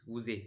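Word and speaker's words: Woese: Karl उजे है ना? या वाउज भी बोलते हैं। है ना? उच्चारण में ध्यान रखना है आपको।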